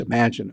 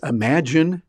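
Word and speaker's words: Imagen: into as well it's Imagine by Google yeah Google himself and that's spelled i-m-a-g-e-n they kind of made up their own word but it sounds like imagine and they did that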